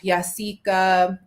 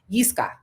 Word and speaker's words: Yiska: Yasika, I'm sorry, did I pronounce it right? Yiska, sorry.